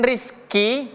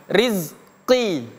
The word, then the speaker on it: rizqi: Makanya kalau kita dalam membaca Al-Qur'an atau berbahasa Arab bukan rezeki tapi rizqi. Oke.